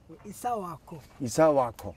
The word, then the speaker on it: Han-ako: name of the rock His name is pronounced with a click He was born next to a cap-shaped stone that resembles a house So he's named after the type of rock, Han-ako If you're born in